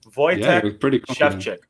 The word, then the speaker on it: Wojciech Szewczyk: who are tuning in the proper pronunciation for your name and it took me a long time and i'm sure i'm still getting it wrong voyage chef check oh yeah that's the